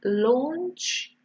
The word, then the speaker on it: launch: Okay, so your A-U is an O sound, launch.